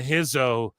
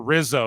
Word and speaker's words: Rizzo: Lorenzo and um Adriana Hizo or Rizzo rather I say Hizo because Brazilian ju you know we say